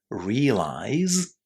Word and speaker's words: realize: That's why it's quite hard for us to recognize the z at the end of realize and to pronounce that z at the end of realize. But that's the way we should do it, at least in theory.